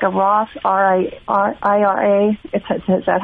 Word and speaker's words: Roth: And so I was wondering if we could open something like a Roth IRA. Is that how you say it? Yes, Roth.